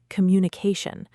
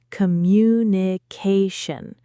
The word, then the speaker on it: communication: Another great tip for our listeners regarding pronunciation is the word communication. Many learners struggle with the rhythm. It has five syllables. Communication. The main stress is on the ca sound.